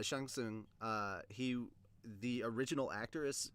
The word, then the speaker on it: Shang Tsung: sang sang soon yeah Shang Tsung I know how to pronounce his name correctly I'm not going with that American butchering but yeah Shang soon he the original actor